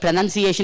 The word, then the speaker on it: pronunciation: So pra is one. Nun is one. C-A-tion. 1, 2, 3, 4, 5. Pronunciation. A, there is upper stress. There is a lower stress probably here. None may be lower stress if I am correct. Pra is feeble. Pra is feeble. Am I right, Krishna sir? Pronunciation, tell me. Pra is feeble. None, there is lower stress.